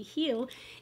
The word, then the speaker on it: Hela: angie not gonna lie hella or as it is pronounced sort of with nordic mythology heal is the goddess of